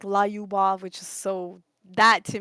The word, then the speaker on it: Lyubov: You've like said my name a few times, but it's Lyubov. Like the pronunciation of it Lu, is Lu, because they say it a little bit like say it again. Lyubov.